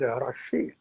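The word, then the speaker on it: rocher: French, a a a rock formation is called Arashi, which is spelled R O C H E R.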